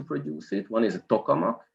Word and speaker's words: tokamak: it one is a tokamak it's a it's a soviet invention from the 60s well at least as i pronounce it as a hungarian and and the other